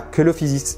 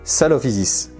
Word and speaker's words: Coelophysis: Alors, petite précision, c'est vrai qu'en latin on dit koilos, mais véritablement quand on prononce koelophysis, c'est pas koelophysis, c'est salophysis.